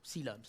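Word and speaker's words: coelom: we getting to this now silence now that's a big word it's spelled completely not like it sounds amarata yes it looks way weirder than it's said yes it's terrible okay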